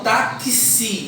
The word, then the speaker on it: táxi: Mas quando eu falo que si, eu não falo X. Falo táxi. Então, eu falo C, S, I.